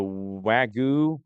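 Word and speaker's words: Wagyu: The Wagu, I don't know if you It's W A G YU.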